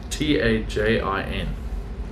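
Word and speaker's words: Tajín: But tagine is not spelled like that, the food. Is it not? So John Ma, is that an app? Tajin.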